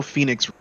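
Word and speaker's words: Fenyx: immortals phoenix rising and phoenix ain't even spelled the way you think it is f-e-n-y-x they said how can we spell this wrong and people still say it right why didn't they just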